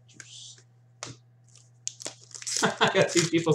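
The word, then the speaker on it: Djoos: Is the D or the J silent? Or Juice? Artemi Panarin, Columbus, Juice. So the D is silent to Juice.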